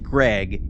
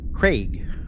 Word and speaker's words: Craig: It's not like Greg, it's Craig.